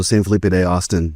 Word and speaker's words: San Felipe de Austin: State Park located in San Philip Texas and did I say that correctly the history of the town would be Spanish pronunciation so San Filipe day Austin but the modern Town